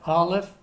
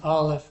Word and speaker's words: aleph: The next thing I want to mention here is, I told you that the aleph is silent, but historically it was a glottal stop.